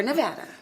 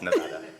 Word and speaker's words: Nevada: We're Nevada. My apologies. Nevada.